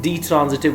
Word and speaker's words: ditransitive: discuss the definition of ditransitive verbs you can also pronounce it d transitive verbs die means to and transitive which can